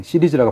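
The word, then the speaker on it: Ceres: 제품 이름은 또 시리스, 행성 이름인 거고요. 예, 이게 시리즈라고 발음을 합니다.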